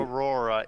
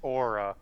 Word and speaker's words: Aura: Aurora, it's Aura. I know, I said it wrong.